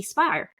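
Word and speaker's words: Speier: So one of our congress people is Jackie Spire um or Spear I think she pronounces it.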